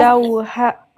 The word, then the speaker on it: لوحة: Dès que tu vois le T fermé, tu le prononces comme ha. En plus, ils se ressemblent. T fermé ressemble à ha à la fin. Donc, لوحة.